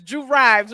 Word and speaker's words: Drew Rives: It's Drew Rives, right?